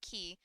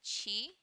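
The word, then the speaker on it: Qi: pronouncing his name correctly I think the actual pronunciation might be chi because of the spelling of his name but I I've said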